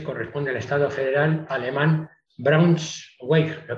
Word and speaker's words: Braunschweig: Decir que Brunswick en inglés corresponde al estado federal alemán Braunschweig. ¿Lo he pronunciado bien? Braunschweig.